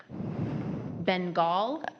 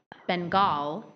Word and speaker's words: Bengal: Is there an alternate pronunciation? There are Bengal, Bengal, Bengal, Bengal.